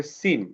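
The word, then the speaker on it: scene: তারপরে সিন, এই যে এস এর পরে সি আছে, সিটা সাইলেন্ট হয়ে গেছে।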